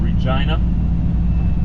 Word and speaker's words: Regina: This is Regina, pronounced just like that.